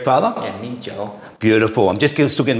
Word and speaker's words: Mijiu: So rice wine is pronounced Mijiu in Chinese. Is that correct, Father? Yeah, Mijiu.